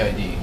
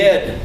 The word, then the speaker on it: id: The ID. The id. The ID. It's pronounced id.